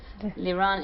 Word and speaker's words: Liron: it again yeah my name is can you spell it for us liran l-i-r-o-n is that's in English yeah